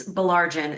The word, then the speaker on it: Bolarin: It's It's Bolarin is the easiest way to say it.